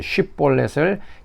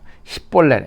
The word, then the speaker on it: 쉽볼렛: 자, 에브라임 사람들은 애취 발음을 제대로 못해서 이제 쉽볼렛을 십볼렛이라고 이제 발음을 하게 됩니다. 그래서 그 발음을 한 사람 한 사람 하게 하고, 그래서 십볼렛 애취 발음을 제대로 하지 못하면 에브라임 사람을 알고 이제 죽이는 것입니다.